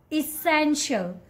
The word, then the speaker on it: essential: The correct way to pronounce this word is essential. Essential. Don't call it essential.